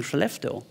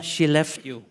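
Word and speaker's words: Skellefteå: all have difficulties pronouncing chalefto so i say well she left you can you say that yeah she left you yeah now you got it but we don't want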